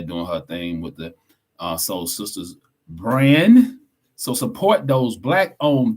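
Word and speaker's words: Sole Sistas: And we got Soul Sisters, SOLE. Yes, I'm pronouncing it because sometimes y'all might want to know how to spell it.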